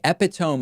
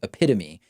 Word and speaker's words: epitome: Epitome, of course, is a mispronunciation of the word epitome.